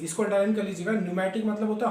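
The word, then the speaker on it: pneumatic: अब देखो एक वर्ड यहाँ पे है न्यूमेटिक, पी साइलेंट है, NEUMATIC, इसको अंडरलाइन कर लीजिएगा। न्यूमेटिक मतलब होता है हॉलो, खोखली, जिसमें स्पेस हो, एयर भरी होती है।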